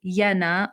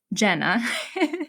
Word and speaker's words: Jenna: Her name is Jenna or Jenna, depending on if you want the Finnish or the American pronunciation of that.